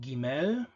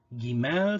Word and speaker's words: Gimel: The next letter is called Gimel. Gimel, so the Proto-Hebrew pronunciation, just a g, just a voiced velar stop, but then this one